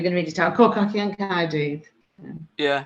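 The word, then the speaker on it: Côr Cochion Caerdydd: Cor Cochion Caerdydd.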